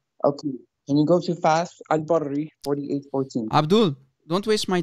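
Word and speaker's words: Fath al-Bari: And it's Fath al-Barri. You idiot. You can't even pronounce the name correctly.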